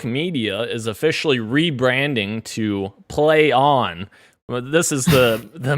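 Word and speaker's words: Plaion: i o n and they're expecting people to just know that it's play on and not like playing or plain i don't even know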